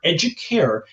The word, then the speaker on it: educare: Remember, educare is actually Latin, and it's pronounced educare, and it means to nourish or to elevate.